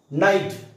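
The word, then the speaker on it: knight: एन आय जी एचटी नाईट आता नाईट असा उच्चार दोन्हीचा पण होतोय के एन आय जी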